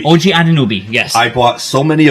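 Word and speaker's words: Anunoby: O O OG Anobi. Ojanobi.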